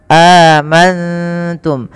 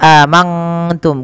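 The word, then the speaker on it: آمنتم: diistilahkan untuk mim sukun nun sukun bertemu dengan ta ikhfa cara membacanya nunnya samarkan kepada huruf ta amantum bukan hanya amanttum kalau mangtum maka dia berubah daripada makhrajnya kemudian mim mati bertemu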